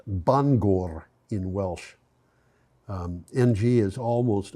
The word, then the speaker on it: Bangor: the site of a former paper mill near Bangor, Maine. Bangor is pronounced Bangor in Welsh.